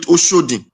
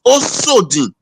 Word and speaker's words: Osodin: Oshodin is a Yoruba pronunciation of Edo word. It's Osodin. Don't call it Osodin. The Yoruba now pronounce it as Oshodin because there is no H in it. But people are now using H to spell it. It is called Osodin.